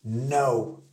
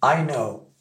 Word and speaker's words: know: bizarrement k n oow bien évidemment le K vous l'oubliez il ne se prononce pas on dit pas I